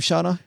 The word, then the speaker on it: Shauna: Man, Shauna, do you pronounce her name Shauna? Yep, Shauna do.